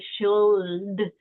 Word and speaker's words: should: We don't say like I should, right? Like we're not really pronouncing the L. We kind of gloss over it.